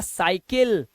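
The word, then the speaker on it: cycle: सा का उच्चारण देखिए वाई के केस में कैसे सी वाई सी एल ई इसे क्या पढ़ते हैं इसे पढ़ते हैं सा तो ये हो गया साइकिल इसी तरह से यहां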